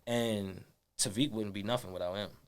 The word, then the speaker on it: Tevik: really a conversation starter in the same token because people like, yo, what is Tevik? And then niggas say it wrong all the time.